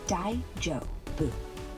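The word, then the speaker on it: daijōbu: What does daijoubu mean? Daijubu means it's okay, or are you all right? Like when someone asks if you're fine after a stumble. Pronounce it dai-jo-bu.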